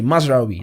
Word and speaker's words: Mazraoui: His name is Mazraoui. Okay, Mazraoui. That's the pronunciation.